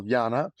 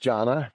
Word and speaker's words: Jana: One is a little girl Jana um or pronounced Janna.